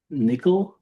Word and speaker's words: NCCL: Nickel, NCCL, pronounced nickel, is for multiple NVIDIA GPUs, and it's similar to MPI, if you're familiar with that message passing interface.